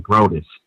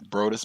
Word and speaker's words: Brodus: his name is DJ grotus the second I pronounce his name incorrectly DJ Brodus specific Brodus BR OD us he